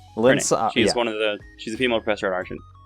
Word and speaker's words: Lynssara: And now I'll activate, how do you pronounce this name? Lynssara. Lynssara. Her name. Lynssara.